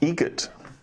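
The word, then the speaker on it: Eget: Adam Egret, Egret. Spelt differently. like the bird.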